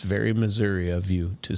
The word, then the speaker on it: Missouri: Sounds practiced with many people who would say Missoura. No. We say Missouri because why? It's spelled with an I, not an A H.